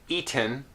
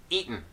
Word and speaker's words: eaten: I would not say eaten I would say eaten okay so in this case the vowel disappear ears and we're left again with the same sound here with the unreleased T followed by n and I would pronounce